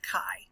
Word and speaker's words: chi: test for Independence um Kai square is actually written with this Greek letter that looks like an X um it's usually spelled Chi but it's pronounced Kai so it's Kai Square